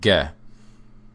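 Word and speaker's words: Г: And the first one, we've got a, be, ve, is ge. Okay, this is a hard G sound.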